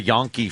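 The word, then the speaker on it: Jonke: were the Yon the yonke family spelled with a J it looked like junkie but they was pronounced yon and um wasn't it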